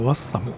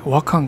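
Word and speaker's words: 和寒: 次はワッサム。あれワッサムって読むんですね。和漢かと思ってました。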